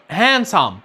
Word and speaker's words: handsome: لما يجي قبله حرف الان زي كلمة sandwich وزي كلمة handsome، وده مش في كل الحالات.